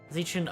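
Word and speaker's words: Xichun: Zichun. Okay. Yeah, that's how you pronounce it.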